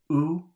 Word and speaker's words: où: Used with the word où, the accent has no pronunciation value.